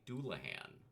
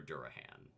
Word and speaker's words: Dullahan: I am talking today about a creature known as a doulahan or a durahan. Both pronunciations have been found in different sources.